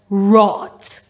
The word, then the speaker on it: wrought: R, ought, wrought. Now in this word, the W is silent.